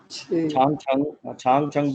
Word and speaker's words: CHANG CHENG: हुआ है CHANG CHENG, तो CH की आवाज क्या है, छे की साउंड है। छांग छंग बोला था आपने, तो इसको बोलेंगे यूं करके प्रोनाउंस करेंगे, शेर, ठीक है।